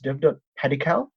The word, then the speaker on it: Devdutt Padikkal: I don't know if I'm pronouncing his name correctly. It's Devdutt Padikkal.